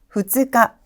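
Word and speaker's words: 二日: 2일은 후츠카, 후츠카라고 발음이 되고 있네요.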